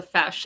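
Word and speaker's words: feis: Uh, it's called it's pronounced fesh, I believe. Yeah, it's pronounced a fesh.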